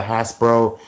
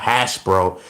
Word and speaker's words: Hasbro: So it's Hasbro, not hash bro, because it sounds like I'm saying hash browns.